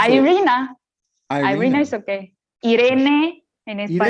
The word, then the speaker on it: Iryna: to go follow along, it's spelled Iryna. So again, I pronounce that Iryna.